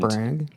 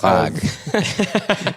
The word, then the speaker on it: Prague: and Brag. there were I these believe it's moments pronounced of- Prague.